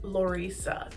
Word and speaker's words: Lorisa: It's a combination of Laura and Lisa, pronounced Lorisa.